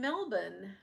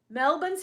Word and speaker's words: Melbourne: My cousins owns a driving school in Melbourne. Melbourne's how you say it. Think guys, you don't do Melbourne, right? My Aussie friends have um corrected me on that.